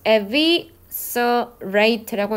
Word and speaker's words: eviscerate: 그래서 걔가 뭘로 들어가냐면 중간에 self 얘는 조금 발음이 어려워요. eviscerate. eviscerate라고 읽는 거예요.